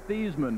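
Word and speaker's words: Theismann: think of their field General Joe Theisman he pronounced it these men back in 1966 he's the quarterback here at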